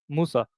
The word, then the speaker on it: Musa: So the name of the prophet Moses in Arabic or in Quran is Musa, Yeah, we know.